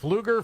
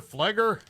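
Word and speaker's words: Pfluger: Uh, is August Fluger? Fleger.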